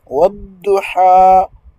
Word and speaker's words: والضحى: il faut faire attention il faut bien prononcer la lettre dod donc au lieu de da wadduha wadduha wal-layli idha saja ici ha c'est wadduha au lieu de wadduha donc c'est pas ha c'est ha ha ha avec la gorge au